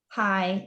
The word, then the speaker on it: Hai: as well and snow gets a letter from hai is that how i pronounce his name yeah hi is is with the yeah